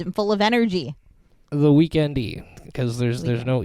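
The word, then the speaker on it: The Weeknd: The Weekend-y, because there's no E there. Love it. The Weekend. I don't know if you can... I mean, he says you pronounce it weekend, but he doesn't spell it weekend.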